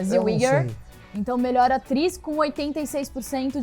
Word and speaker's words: Zellweger: Que fala a pronúncia perfeita, Zellweger.